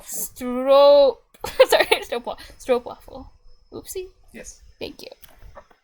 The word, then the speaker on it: stroopwafel: oopsie yes thank you the O is more like an OA in English what I'm pretty sure many tourists come asking for stoop waffles and they say it like that um yeah I bet